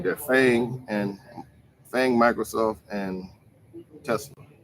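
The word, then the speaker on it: FAANG: so you invest in fang fang f-a-a-n-g f-a-a-n-g yeah i said it right bang f-a-a-n-g facebook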